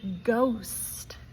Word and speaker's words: ghost: But it can be challenging because sometimes H in a word is silent like the word ghost.